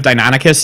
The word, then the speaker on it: Deinonychus: I was a big fan of Deinonychus as a kid, so having Deinonychus in a film and just calling them something else was... Deinonychus?